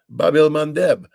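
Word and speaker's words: Bab-el-Mandeb: hoodie have shut down the Red Sea the Babel mandb I finally said it right and um they've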